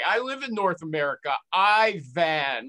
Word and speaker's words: Iwan: this guy's name is ivan gulenko have i got it right ivan okay but why do you